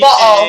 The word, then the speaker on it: Baal: You're still famous in our podcast for letting us know how to pronounce. Crap. Now I can't even think of the name. Baal.